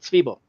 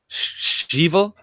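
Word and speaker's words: Svebo: Well, most people couldn't pronounce it. Svibo. Stiebel? Not Slivovica, not the drink, but Svibo.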